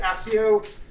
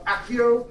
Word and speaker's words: Accio: know the invitation pacquiao some people pronounce it asio i think that's wrong personally um accio is an excellent way of saying it unfortunately it is